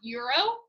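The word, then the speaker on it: gyro: alright sometimes uh it is called this is pronounced euro okay a euro is the type of money they use in europe a euro is also how you print and pronounce g-y-r-o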